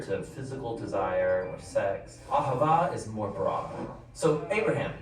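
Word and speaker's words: אהבה: It's pronounced aava.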